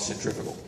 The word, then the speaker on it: Centrifugal: So we did some listening, and they picked this piece called Centrifugal. Now, it's spelled like centrifugal, but it's really, the root of that is the fugal.